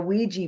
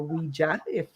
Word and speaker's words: Ouija: the history of the Ouija board, or Ouija, Ouija is the way that's what I've been told.